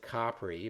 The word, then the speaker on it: Capri: the Italian island of Capri and yes I know Italians pronounce it Capri but hey I'm not Italian anyway it seems krup